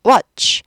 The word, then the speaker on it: watch: watch 두 박자 아니에요. watch 한 박자예요. 한 박자 한 음절이라 그래요. 그래서 watch이 한 박자고 취는 그냥 따라가면서 소리가 안 나요. watch 가 됐어요.